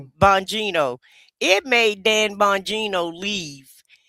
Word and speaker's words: Bongino: Bonino. Bonino.